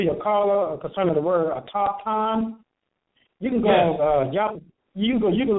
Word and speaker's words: autochthon: And you pronounce it auto Shanhan? No, autochthon. It's not. It don't sound exactly how it's spelled. Some of the letters are silent, so it's autochthon.